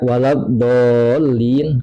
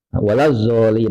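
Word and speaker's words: الضالين: Jadi begini, dia baca waladhdallin, kemudian do-nya diganti zo. Ini otomatis batal sholatnya. Waladzolin misalkan, atau ha diganti ha, mengganti huruf.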